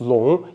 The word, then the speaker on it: 瀧: first word uh which can be pronounced as long in Mandarin and its definition is